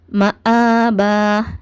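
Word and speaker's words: مآبا: அடுத்து வந்து மஆபா இங்க பாத்தீங்கன்னா ம ஆபா ஆபான்னு உச்சரிக்க கூடாது. ஏன்னா இந்த அலிப் நம்ம அலிப்கு மேல ஹரக்கத் வச்சு வந்துச்சுன்னா அந்த சவுண்ட் எல்லாத்தையுமே தரது யாருன்னா ஹம்ஸாதான் அந்த சவுண்ட் எல்லாத்தையுமே தரும். அலிப் கிடையாது ஓகேவா சோ என்ன பண்ணுங்க இங்க ஹம்ஸாதான் இருக்கும்.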